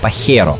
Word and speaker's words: Pajero: Which you’re meant to pronounce as “Pahero”. Though even in Japan they say “Pajero”.